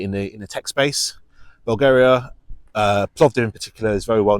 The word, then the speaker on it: Plovdiv: It's called Plovdiv, Plovdiv, Plovdiv. A lot of people have trouble with pronunciation of that.